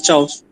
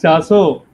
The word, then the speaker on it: Chaso: Soapnut Leaves as Chaos. Chaus. Yes. It's Chaso, not Chaos Chaus. also. Yeah. So it's a wrong Okay. pronunciation.